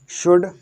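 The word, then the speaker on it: should: क्यों नहीं पढ़ते हैं, क्योंकि एल के बाद या इन शब्दों से पहले, MFKD शब्दों से पहले एल आ जाता है तो एल साइलेंट रहता है, या एल के बाद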